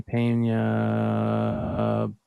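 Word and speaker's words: Peña: is that how you say it yeah jeremy pena bowman there we go take a look at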